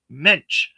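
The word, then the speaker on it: mensch: Uh, it's menish. Okay, thank you. Pronounced like wrench. Um, mench. I gotcha. Thank you. Like the Jewish term, a mench.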